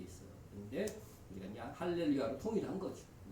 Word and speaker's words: 알렐루야: 그러니까 헬라어를 사용하는 사람들은 할렐루야라고 써줘도 뭐로 발음해요? 알렐루야.